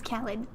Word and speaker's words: Khaled: He says Khaled. DJ Khaled. I suppose you'd know having seen him live. Yeah. Someone's got to open for Demi. And why not DJ Khaled?